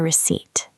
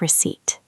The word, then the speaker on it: receipt: That is the receipt. Remember, the letter P in receipt is silent. It sounds like receipt.